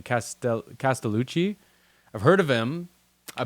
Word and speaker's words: Castellucci: Castellucci.